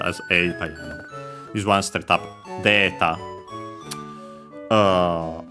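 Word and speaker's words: データ: Uh notice that uh for words uh from English usually uh a the a sound straight up became long a uh we didn't even keep it uh with the e uh in writing uh straight up became long a directly unlike words of uh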